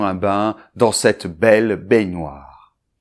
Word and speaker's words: baignoire: with "bouilloire", it's "la baignoire" (bathtub). Well then, so "une baignoire", it's there where you take your bath, okay? Good, so first syllable , with an open [ɛ]: [ɛ] .